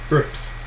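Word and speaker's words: urbs: But anyways, this is pronounced erps, erps. The Romans, to make sure they didn't have any voiced syllables, s is a sibilant, they would unvoice that consonant before, so it'd be erps, erps.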